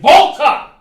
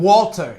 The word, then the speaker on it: Walter: to be represented by anybody else other than Volta. Yes, in Tampa, Florida. I'm sick of people calling him Walter.